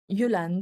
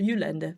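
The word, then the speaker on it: Jylland: Juland, it's pronounced Juland. It should be pronounced like that in Danish.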